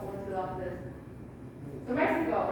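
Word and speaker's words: México: X is pronounced like an H sound. So Mexico, what food do you like in Mexico?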